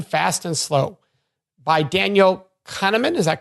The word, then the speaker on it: Kahneman: them is Thinking Fast and Slow by Daniel Kahneman is that correct pronunciation that's correct and so what do you